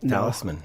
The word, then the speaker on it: Talisman: Wise Wise Choice um Rob you're with uh Talisman wines am I pronouncing that correctly that is correct okay it could be like some French like Teddy no Talisman Talisman wi uh and where is that R it's